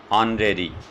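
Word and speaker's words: honorary: कुछ silent words दे रहा हूँ जिनमें H साइलेंट होता है, देखिए एन ऑनर, इसकी प्रोनाउंसिएशन क्या होगी, ऑनर। एन ऑनरेबल, एन ऑनरेरी, एन ऑनरेरियम, an year,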